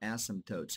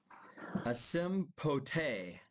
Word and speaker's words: asymptote: you spell it correctly a sempote now asymptote not really asymptote this is an asymptote this is a boundary line um for the ends of the graph some people used to say like asymptotes or just boundary lines